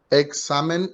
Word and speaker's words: examen: hablar en breve entonces el examen es una palabra llana porque se carga la voz en la penúltima sílaba y no lleva acento